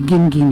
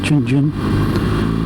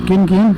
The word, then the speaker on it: Gin Gin: You know, well, I'm not, you could pronounce that different ways, but they say Gin Gin here, not Jin Jin. So Gin Gin.